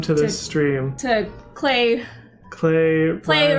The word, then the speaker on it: Klei: Klei Rhymes with Klei. Klei.